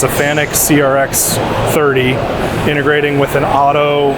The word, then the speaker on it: FANUC: FANUC, yes.